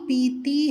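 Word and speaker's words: भात: பாத் என்று மகாபிரான் பாவை உச்சரிக்க வேண்டும். மகாபிரானுக்கு பதிலாக அல்பபிரான் பா, 3வது பா உச்சரித்து விட்டால் மேட்டர், செய்தி, பேச்சு என்று ஆகிவிடும். பாத், பாத் என்றால் பேச்சு, செய்தி, மேட்டர் என்று பொருள். அதே பாத் என்றால் சாதம் என்று பொருள். எனவே உச்சரிப்பில் கவனம் தேவை.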